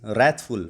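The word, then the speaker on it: wrathful: देखते हैं भाई 1336 रैथफुल रेथफुल इसके अंदर डब्ल्यू है ना वो साइलेंट होता है बट फिर भी आप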